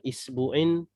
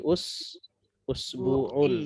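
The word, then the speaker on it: أسبوع: Jadi bacanya ini bukan isbu'in atau bukan asbau'un ya, tapi usbu'un ya, usbu'un ya, usbu'un pakai alif lam menjadi al usbu'u.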